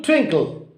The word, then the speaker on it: twinkle: So, twing is stressed and kill is unstressed and almost inarticulated.